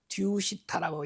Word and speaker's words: Tushita: 아 본래 우리가 이상 세계가 도설촌이 있는데 산스크리스트로 듀시타라고 이렇게 발음을 해요.요 CC 말이 영어로 좀